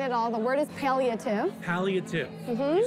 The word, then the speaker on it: palliative: The word is palliative. Palliative. Mm-hmm. Can you spell it for me?